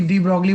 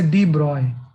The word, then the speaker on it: de Broglie: डी ब्रॉगली बोलते हैं, लेकिन एक्चुअल में इसका प्रोनाउंसिएशन जो होता है वो डी ब्रॉगली नहीं होता है, इससे डी ब्रॉय, है ना। कि डी ब्रॉय वे बोलना चाहिए इसे एग्जैक्टली, है ना।